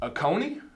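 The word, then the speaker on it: Akeoni: next up we have I believe this is pronounced Oconee is that right and this is I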